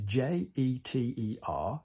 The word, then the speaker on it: jeter: all of this business, jeter is a really, really, really, really commonly mispronounced verb in French. Because it is J-E-T-E-R, so jeter, like I, je, jeter. But when you conjugate it and go into the short form, you say jette, je jette.